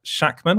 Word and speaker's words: Shakman: you look at what uh the director matt shakman i believe that's how you pronounce his name the director of one division